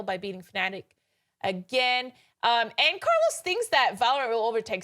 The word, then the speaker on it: Carlos: Carlos is fine. Roll the R.